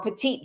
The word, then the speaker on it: petit: So just so people understand grand juries do not function like what we call pettit juries or petite juries if you're going to actually pronounce it with a French accent.